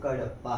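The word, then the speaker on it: కడప: गया ठीक है ना इसकी प्रोनाउंसिएशन कड़प्पा है गलत नहीं इसी के साथ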